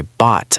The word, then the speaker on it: bought: It has those confusing silent letters at the very end. Oh right, the G, H, and T. English spelling is so crazy sometimes. It really is. When you speak, just ignore the G and H completely.